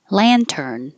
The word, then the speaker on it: lantern: started with hyperbolic, and lantern. This is an ah, so keep your lips back and your jaw very open. La, lantern, balloon.